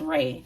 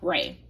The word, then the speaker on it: Ra: Oh, it's pronounced Ray. Sorry, y'all. Ray.